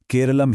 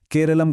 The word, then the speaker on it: केरलम: असल में मलयालम भाषा में लोग पारंपरिक रूप से अपने राज्य को केरलम ही कहते आए हैं। लेकिन जब ब्रिटिश राज आया तो अंग्रेजी उच्चारण के हिसाब से केरलम को केरल लिखना और बोलना शुरू कर दिया गया।